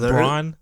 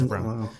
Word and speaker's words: Braun: Christian Braun? No, I'm sorry. It's Brown. His name's so stupid. Continue. It's Brown. It's Brown. I don't know why it's spelled weird.